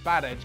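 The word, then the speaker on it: Badelj: Now, his name can't seriously be pronounced Badej, can it? But it's spelt B-A-D-E-L-J, and I think that's a silent L if ever I've heard one.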